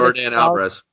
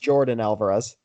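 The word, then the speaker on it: Yordan Álvarez: just brought up its I found out virgin hours no it's pronounced Jordan Alvarez Wow fun fact what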